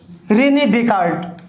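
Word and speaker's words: René Descartes: देखिए रेने डेकार्ट, इसका actual pronunciation होता है रेने डेकार्ट।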